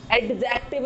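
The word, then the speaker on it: adjective: मैं बात कर रहा हूं एडजेक्टिव, एडजेक्टिव नहीं, एडजेक्टिव, एडजेक्टिव। हम बात करते हैं डी की, तो ये डी यहां पे साइलेंट हो रहा है।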